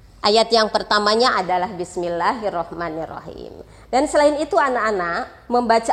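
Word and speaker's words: بسم الله الرحمن الرحيم: yang Ibu dengar ini anak-anak sering membaca Bismilah hirohmanirohim Padahal di sini ada tas di dalam roh jadi harusnya membacanya Bismillahirrohmanirrohim ya Nah kemudian yang sering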